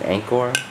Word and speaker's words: Angkor: most popular beers here this is Anor they pronounce it Anor um Cambodia uh over here they pronounce it